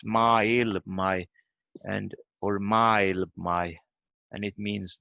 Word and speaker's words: maailma: So the stress is only on a, maailma. Yeah. Because sometimes in Sami I hear they say maailmi. They say it like they are still in two words, I feel.